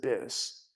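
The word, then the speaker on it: Böse: like Bosei speakers, but in German you have the two dots over the O. It's pronounced Bis.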